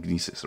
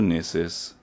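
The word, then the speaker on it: Gnisis: Travel to Gnesis. Now that we know that the G is silent.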